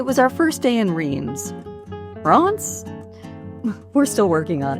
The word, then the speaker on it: Reims: Apparently, this is one of the most difficult, if not the most difficult, French cities to pronounce for Americans. It's difficult. Apparently, it's pronounced something like Reims, because it really just